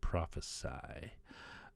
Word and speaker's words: prophesy: is a noun and when you spell it with an s it becomes a verb which is pronounced prophesy i will prophesy a prophecy weird all